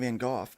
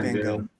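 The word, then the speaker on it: Van Gogh: uh don't tell Vincent van off but um did you know we pronounce that wrong here in America it's not V it's not van go it's not van go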